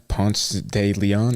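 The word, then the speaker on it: Ponce de León: 1521 Juan Ponce de Leon.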